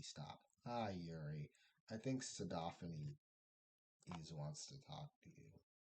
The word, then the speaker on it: sodaphanes: I think sodaphanes wants to talk to you. I pronounce it, yeah, I pronounce it like the way I do xenophanes.